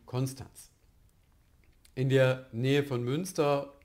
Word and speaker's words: Konstanz: Ähnlich ist es bei Konstanz. Niemand sagt dort Konstanz in der Region, sondern es ist Konstanz. In der ARD-Aussprachedatenbank und im Standard ist es trotzdem Konstanz.